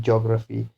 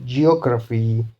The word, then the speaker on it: geography: So the third last is the beginning one in geography. So geography, geography, allergy, nautical, clarity.